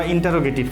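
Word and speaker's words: interrogative: এখন যাব হচ্ছে আমরা ইন্টারোগেটিভ সেন্টেন্সে। ইন্টারোগেটিভ, এটার উচ্চারণ হচ্ছে ইন্ট্রোগেটিভ।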